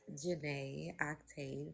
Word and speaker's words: Jana Octave: My name is Jana Octave. That's how you say my name.